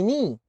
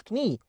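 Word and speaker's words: knee: الكي ان دائما وابدا ينطق ان وبنفس الاوردر بنفس الترتيب. الكي ان بتنطق ان زي مين؟ زي ني، ما اسمهاش كني.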